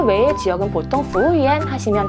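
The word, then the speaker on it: 服务员: 중국 사람들 중에 베이징 분들은 얼 들어간 발음을 굉장히 좋아하기 때문에 부우열 이렇게 부르시는 분들도 있으세요. 그 외의 지역은 보통 부우연 하시면 다 알아들으실 수 있으실 거예요.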